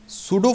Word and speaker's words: pseudo: चलिए शुरू करते थे सूडो फोर्स जिसके स्पेलिंग ऑफ देखने पी से शुरू हो रहे हैं लेकिन इसको सूडो बोलते हैं मैं इसको सूड ऑफिस